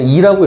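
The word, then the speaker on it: e: 자연상수 애라고, 나는 애라고 읽어. 근데 이라고 읽어야 돼, 얘는. 이.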